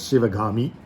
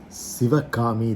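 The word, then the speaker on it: சிவகாமி: to as shiva kami in tamil it's pronounced as shivagami usually so sivakami they say but what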